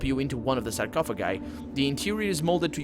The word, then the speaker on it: sarcophagi: 7 sarcophagi. That's how we pronounce that in Latin. Sarcophagi. Yeah, with a rolling R.